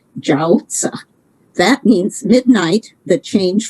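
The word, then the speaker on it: 饺子: especially in northern china in chinese the pronunciation of dumplings is jausa that means midnight the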